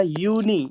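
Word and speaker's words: Juni: तो जे you plus N आई। ये हो जाएगा यूनी।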